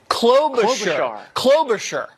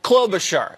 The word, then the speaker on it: Klobuchar: Klobuchar. I had too much shear on the char. Yeah, too much shear. Okay, Klobuchar.